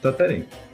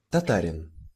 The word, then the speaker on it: Tataryn: Wszołek, mãe de José Tatarin. Espero que não tenha ficado confuso. E só para mostrar para vocês a, a pronúncia em ucraniano do sobrenome de vocês, aqui, ó. Tatarin. Tatarin, tá bem?